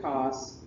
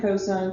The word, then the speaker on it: cosine: right and then there's cosine cosine is how you say it don't call it cos and then tangent t in g tangent sine cosine tangent and you say